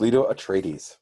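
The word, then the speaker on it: Leto Atreides: Victoria Principal huh okay let's go to Duke lto atres am I pronouncing that correctly you are Duke Leto atres all right who do you got for Duke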